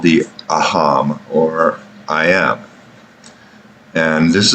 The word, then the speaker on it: aham: And this aham, A-H-A-M, aham is how it's pronounced and spelled, is the ego, basically.